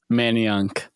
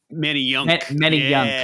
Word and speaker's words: Manayunk: Is it Manayunk? Manayunk. Manayunk, yeah.